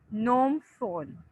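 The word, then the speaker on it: Phnom Penh: PH is silent, नोम फोन।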